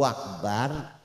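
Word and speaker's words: أكبر: setelah Allahu akbar kemudian jangan sampai bnya itu hamzahnya Akbar itu jangan sampai dibaca kasrah jadi Allahu akbar anak muda kena penyakit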